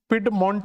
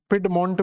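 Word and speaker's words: Piedmont: आपको मिलता है जिसका नाम आप देखोगे तो पिड मंट करके आपको एक स्ट्रक्चर मिलेगा तो अपलेसियन पर्वत के बिल्कुल दक्षिणी हिस्से पर जाओगे तो पेड मंट करके आपको एक स्ट्रक्चर मिले जाएगा पिड मंट भी बोल देते हैं इसको पिड मंट तो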